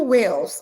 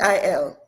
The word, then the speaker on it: Weil: Dr. Andrew Wales, I think I'm pronouncing his name well. Dr. Andrew the last name is Wiel or I've seen it. Weil. Yes.